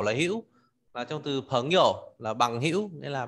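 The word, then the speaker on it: 朋友: Từ chữ này đúng một mình thì đọc là hiểu, là thanh ba, nhưng khi đi với từ bạn bè thì đọc thanh nhẹ, đọc là phấn hiểu.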